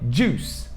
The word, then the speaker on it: juice: Só que tem esse I e todo mundo fala juice. Juice. Só que esse I não é pronunciado. É juice. Juice. E termina com CE e tem o mesmo som de police. Então, termina com S, o som de S.